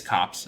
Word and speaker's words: Copse: approach in huntsman's cops i'm going to look at the pronunciation of this word because i want to make sure that i'm not just imagining that it has this strange pronunciation it is cops okay i could have sworn that it was cops but maybe is it german oh well it's not a big deal it's cops we'll just call cops sorry for making a